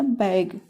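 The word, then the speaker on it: beg: का उच्चारण ए की ध्वनि में इ का उच्चारण एक की ध्वनि में जैसे हो गया बैग बैग बी ई जी बैग बैग मींस होता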